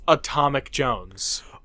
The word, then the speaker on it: Atomic Jones: he put out is Atomic Jones. Oh my god. And it's spelled Atomic Jones. It's spelled A/ or not slash, what's that? A hyphen. A-Tom-IC Jones. Like Tom. Yeah.